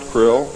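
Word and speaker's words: Krlll: name and title was his omnipotent highness krill pronounced krill spelled k-r-l-l-l or c-r-l-l-l in the american tradition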